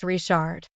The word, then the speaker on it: Richard: with in cjun country Richard is pronounced rishard yes do you know